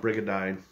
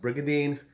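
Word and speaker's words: Brigandine: Brigindine, which growing up, I always called it Brigindine. I didn't know it, didn't know how to pronounce it. And half the time, I still call it Brigindine. But it's pronounced Brigindine, which is also, I found out, it's a kind of chainmail armor.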